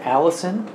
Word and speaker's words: allicin: is just some chemical in there it's called allicin no it's not that out it's spelled uh a-l-l-i-c-i-n if i if i remember correctly but anyway what i was reading about alice in is that um it's in garlic but it's